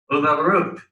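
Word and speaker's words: וּבָרוּךְ: Uvaruk. Uvaruk. That first vowel is the conjunction and. The rest of it is Baruch, which is literally Baruch, but it's because you have the U in front of it, it changes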